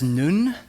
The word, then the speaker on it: nun: n for Nazarene uh they pronounce it as nun and wherever Christians are